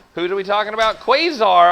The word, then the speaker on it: Quasar: Hello, Quad Arcade. How are you? Who are we talking about? Quasar Arcade. That's how you pronounce the word.